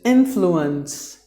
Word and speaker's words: influence: The next word is influence. Influence. 3 syllables. The stress is given in the beginning.